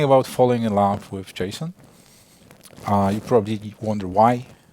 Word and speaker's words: JSON: come back so um it's pronounced Jason that's that's what Douglas